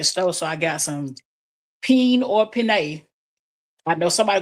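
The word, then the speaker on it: penne: So, I got some peen or pin. I know somebody could be like, "Oh, you said it wrong." But it's uh pina or pen pasta, white fish, potato salad, cold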